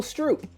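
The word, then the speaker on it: Stroupe: take away the e it's still stroop you're making me angry dan it's the same name like why did you add an extra letter dude it's s-t-r-o-u-p-e do you understand that the e soup is spelled s-o-u-p so you don't need an e at the end of soup okay names are funny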